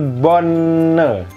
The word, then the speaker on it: bonne: Sedangkan yang ini karena ada double n, jadi bukan bonne tapi bonne. Ya, bon. Si e di sini samar-samar, bon gitu.